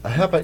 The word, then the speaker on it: AHEPA: Jetson of a HEPA a HEPA is the way to pronounce correctly trooper when did you